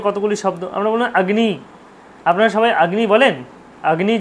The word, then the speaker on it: অগ্নি: কিন্তু আমরা কি বলি অগ্নি অগ্নি প্রজ্লাতি অগ্নি আমাদেরও কথা আমারও কথা চলে আসে অনেক সময় বলে ফেলি আগ্নি প্রজ্জবলাতি ঠিক আছে অগ্নি অগ্নিসুক্ত অগ্নিসুক্ত পড়েছি অগ্নি কিন্তু না আসলে ব্যাপারটা উচ্চারণ হবে আগ্নি আমরা যে ভুলটা করি